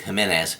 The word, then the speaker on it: Jimenez: These are Jimenez, or possibly pronounced Jimenez, but I believe Jimenez is the proper pronunciation, handguns.